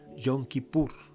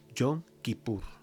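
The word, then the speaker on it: Yom Kippur: de expiación nuevo perdón en el hebreo se pronuncia yon kippur yon kippur yon kippur y entonces dice que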